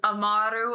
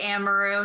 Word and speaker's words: Amaru: name last name hly if you have the nice little accent is amaru I can't roll my tongue so I never say it like that it's Italian so I just say amaru just keep it nice and easy yeah so Megan I